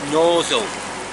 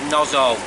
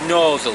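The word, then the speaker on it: Gnosall: yards tunnel uh at uh well it's it's pronounced noal but it's spelled g n o s a l l and for years we said nozo but that was wrong and we were told it's nozle spelt n u s u l l that's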